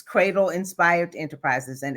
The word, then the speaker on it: Credle: new doctor, I'm like, it's Credle. But my husband's family pronounces it Cradle.